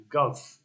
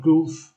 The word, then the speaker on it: golf: c pronunciation number one golf not goof golf to governor three area